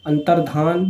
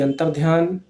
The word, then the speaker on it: अंतर्धान: अंतर्धान, ना कि अंतर्ध्यान। हम लोग उच्चारण से बिल्कुल सही रखेंगे।